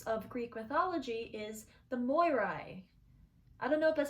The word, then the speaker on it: Moirai: Another name for the fates of Greek mythology is the Moirai. I don't know if that's how you say it. Well, you spell it M-O-I-R-A-I, so it's Morai with an extra I.